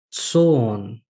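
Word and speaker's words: ζῷον: Tsoon. Olha, lembram do iota subscrito? Aparece aqui na palavra tsoon. Não pronuncio o iota que está subscrito.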